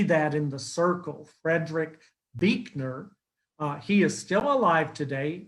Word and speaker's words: Buechner: You might see that in the circle, Frederick Buechner.